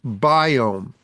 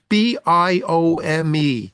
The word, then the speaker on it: Biome: You want to go online to doctor's biome. I'll repeat this later in the show, but write it down. Now, D O C T O R S B I O M E.